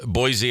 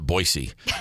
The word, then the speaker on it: Boise: Well, number 5 on the list is Boise, Idaho, which they make a mistake out there. They pronounce it Boise, but I call it Boise because I'm not from there.